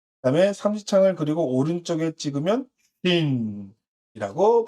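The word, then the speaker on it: שין: 그래서 신은요, 신이라고 읽고, 하나는 쉰이라고 읽고, 나머지는 타오라고 읽습니다.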